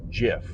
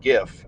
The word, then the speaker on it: GIF: it to be pronounced GIF. They wanted it to sound like the peanut butter of the same brand.